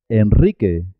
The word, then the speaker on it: Enrique: Enrique, Enrique Iglesias. Israel, Israel. En el resto de los casos se escribe simple y suena simple.